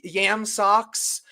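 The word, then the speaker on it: Yam Sox: His name is Yam Socks, and Socks is spelled SOX, but it's Yam Socks.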